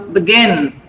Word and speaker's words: begin: The stress is on gin. So begin.